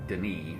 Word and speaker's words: D'ni: always thought as they found out after they made the first game that dummy is also an Australian slang word for toilets so ever after they changed the pronunciation and subsequent games to Denis it's pretty it's spelled